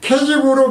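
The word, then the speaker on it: כזיב: 거심은 히브리어로 케지브인데 케지브로 발음되는 것으로 뜻이 뭐냐면은 기만, 거짓된, 속이는, 거짓된, 기만, 속이는, 거짓된, 실망시키다 라는 등의 뜻이 있더라고요.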